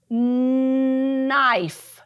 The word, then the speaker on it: knife: We're going to pretend that the K is silent.